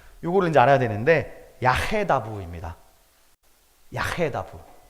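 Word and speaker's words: יַחְדָּו: 야헤다부. 제가 왜 발음을 했냐면요. 아케다하고 발음이 비슷해요. 아케다, 야헤다부.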